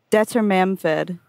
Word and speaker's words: Dwarven: What's the author pronunciation one more time for me? Dwarven.